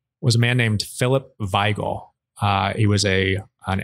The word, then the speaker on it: Wigle: a man named philip veigl uh he was a an immigrant of german and scottish dis heritage i believe he would have been uh german in any case he would have pronounced it veigal and he was one